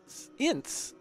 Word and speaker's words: Ince: All right, we've heard from Mr. Joe Ince, rhymes with since.